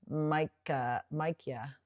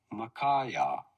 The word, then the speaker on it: Micaiah: So the king of Israel admits there is one, Micaiah.